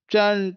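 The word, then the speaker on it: turn: ठीक है, अगर इनकी आप ऑक्सफोर्ड प्रोनाउंसिएशन देखेंगे तो आपको क्या होगा, ये आर वो बिल्कुल साइलेंट कर देते हैं। ठीक है, तो वन, टन, टन ऐसे वो पढ़ते हैं।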